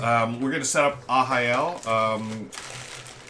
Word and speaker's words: Arraial: and play ahael next and it's spelled r-a-r-r-a-i-a-l but uh it's a portuguese word for it's some kind of party like a neighborhood party um so since portuguese the ours sounds like an h uh to us so